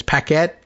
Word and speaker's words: Paquette: And it's Paquette. Do I pronounce that with the emphasis on the second syllable? I hope so.